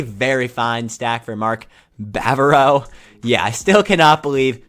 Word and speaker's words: Bavaro: There is not an R after the B. It's Bavaro. So, yeah, sorry.